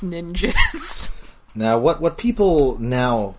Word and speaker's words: Ninjzz: I mean, yes, it's written out N I N J Zz, but it's pronounced ninjas.